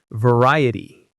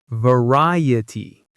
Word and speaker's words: variety: Variety. Variety. The stress is on the second syllable.